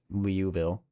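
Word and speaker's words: Liouville: I don't know if I pronounce it right. I That's how I've heard my professor say it. Leuville.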